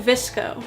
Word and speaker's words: VSCO: okay you want to go to visco which is spelled vsco it's a very popular